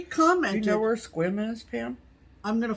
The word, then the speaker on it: Sequim: Squim, Washington. Squim. But it's spelled like Sequim, but it's pronounced Squim. She says Squim.